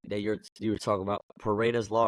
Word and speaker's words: Pareto's: It's so crazy that you were talking about Pareto's law, right?